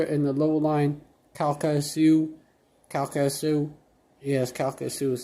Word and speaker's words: Calcasieu: and Port Arthur, and the low-lying Calcasieu, yes, Calcasieu is how you pronounce it, and Cameron parishes in southwestern Louisiana, where forecasters said storm surge topped by waves could submerge entire towns.